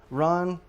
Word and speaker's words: Ron: Um let me see I get the pronunciation right. It's a Ron senario 7 years anjo espasial.